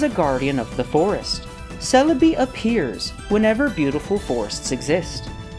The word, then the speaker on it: Celebi: Its Japanese name is the same as its English one. They just say it like this. Celebi.